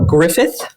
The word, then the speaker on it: Griffith: And then very exciting, we have Terry and Travis Griffith. Is that the proper way to say it? Yep.